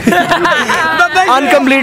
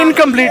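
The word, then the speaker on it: incomplete: अनकम्प्लीट नहीं, इनकम्प्लीट होता है, इनकम्प्लीट है।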